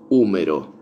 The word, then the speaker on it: húmero: Y que en inglés se pronuncia humerus, humerus, humerus. Que viene del latín humerus y nosotros en español le decimos húmero, con acento en la U, húmero.